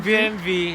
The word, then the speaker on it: BMW: P BMV German kasi ang W sa German pronounce as V.